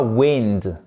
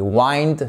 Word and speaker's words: wind: B et c'est pas wind parce que le wind ça existe mais c'est le vent. Exactement la même orthographe mais pas du tout la même prononciation. Vous voyez ici que la voyelle est totalement différente. Ici c'est un écour wind. Et wind, c'est une diftong presque comme le de wind.